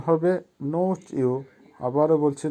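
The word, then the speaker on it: ночью: নোচু, নোচুর অর্থ হবে রাতে। উচ্চারণ হবে নোচিউ। আবারও বলছি নোচিউ।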